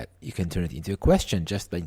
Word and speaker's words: ha: So we already are way into the conjugation. Now what is she has time? She has. It's not o, it's not I, it's a. A. Again, it's written H-A, but pronounced a.